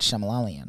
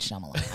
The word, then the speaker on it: Shyamalan: um what's his name m night shemalalian yeah yeah yeah that guy ding dong m m night shyamalan i know how to say his name it's just more fun